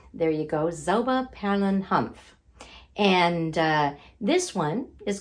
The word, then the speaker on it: Hanf: see the label there you go zelba palin humph and uh this one is called zomapalan humph because humph means hemp in english it's humph is a german word for hemp in english